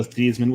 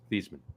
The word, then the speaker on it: Theismann: Theismann. It's supposed to be pronounced Theismann. He changed it to Theismann to rhyme with Heisman when he got into college.